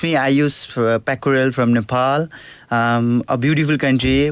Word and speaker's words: Aaysh Pyakurel: One more time, pronunciation of your name. Yeah, my name is Aaysh Pyakurel.